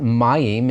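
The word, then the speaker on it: מים: got that name but mayim is the hebrew word for water good word to learn begins with a regular man ends with a final mem because it's accented on that first syllable you see that accent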